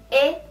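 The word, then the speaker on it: へ: Terus ada juga he, dibacanya menjadi e.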